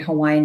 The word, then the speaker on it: Hawaii: in hawaii i would definitely not be considered hawaiian in this context so um the next question is what is the correct pronunciation of hawaii so you'll hear me saying